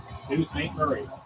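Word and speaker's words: Sault Ste. Marie: CN CN doing all the things Sue St Marie I know how to pronounce that n oh there is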